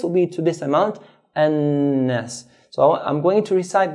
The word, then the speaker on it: النَّاس: So we hold the noon. بِرَبِّن, hold, بِرَبِّن, then let go. قُلْ أَعُوذُ بِرَبِّ النَّاسِ, بِرَبِّ النَّاسِ. If we don't hold the noon and say بِرَبِّ النَّاسِ, then we haven't given the noon its due right.